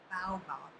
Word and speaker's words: baobab: Well, they told me to pronounce it baobab.